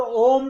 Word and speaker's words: ओम: हाँ, मुंह से नहीं निकलेगा, मुख से नहीं बोलेगा। ओम का उच्चारण अपने आप नासिका से निकलेगा। जब आप भर्तिका करते हो तो किसी मुख से बोलते हो ओम? हाँ नहीं, ओम अपने आप का, ओम का उच्चारण नासिका से होगा।